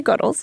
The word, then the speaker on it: Goodles: we are goodles we emphasize the good in noodles good and so that emphasis on good is how we say it and everyone at the company says it so if you ever ask me how do you say it my answer is we say goodles because we emphasize the gutter and noodles gter but honestly say it